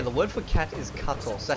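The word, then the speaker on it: kato: So the word for cat is cuttle. Cuttle. And it's spelled K-A-T-O, and it sounds pretty similar to English, so I don't think you guys will have an issue with that one.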